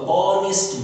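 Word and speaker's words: honest: एन ऑनेस्ट मैन, एच से spelling शुरू है लेकिन आवाज ओ से शुरू है, ऑनेस्ट मैन।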